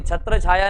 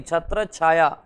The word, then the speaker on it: छत्र छाया: छत्र छाया, उच्चारण भी थोड़ा सा सुधारने की कोशिश करेंगे, छत्र छाया नहीं, छत्र छाया।